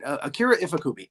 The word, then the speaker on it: Akira Ifukube: And I hope I pronounce that right. Akira Ifukube.